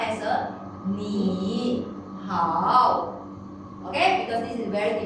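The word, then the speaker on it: 你好: In the actual situation, we will not pronounce as a ni, hao. Okay? Because this is very difficult to pronounce. We will turn the first character to tone number 2.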